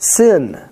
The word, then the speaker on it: Sin: looks like a W, if you put the dot on the left-hand side of the letter is pronounced Sin.